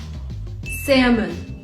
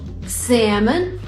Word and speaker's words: salmon: wait for it salmon almond yolk these words are tricky because they have l when you spell them but you don't actually pronounce it and by the way this is american english salmon almond yolk you're asked